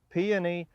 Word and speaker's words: peony: here is our uh peony or peon depending on which part of the area you're from people pronounce it different ways but again it's one